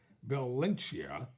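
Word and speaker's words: Balenciaga: name may be hard to pronounce so I'll spell it b-a-l-e-n -c-i-a-g-a I'll give it a go last week Bill lynchia announced that it was seven times with G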